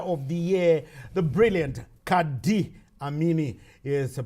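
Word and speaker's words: Qadr: the year the brilliant Kad amini is pronounced Kad but there's no there's no I in the first name it's q a d r but it's pronounced Kad d as you heard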